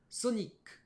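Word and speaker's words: ソニック: exemple le mot solic un japonais sonic sonic ce n'est pas sony que mais sonic la petite pause avant le cul pour bien montrer comment ça se prononce de base en anglais sonic un autre mot grand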